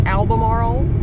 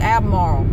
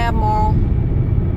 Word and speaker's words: Albemarle: you don't pronounce it alamor you pronounce it abmar abmar I'm going to abmar you kind of it's like A- m a r l abmar you can take out the r or the L abar that's where we're